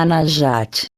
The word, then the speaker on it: Anahata: Chakra do coração, se pronuncia Anahata.